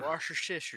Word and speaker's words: Worcestershire: Yeah, chat has everybody has been giving us their individual pronunciations of it. Wash your sister. It's Yeah. Worcestershire sauce.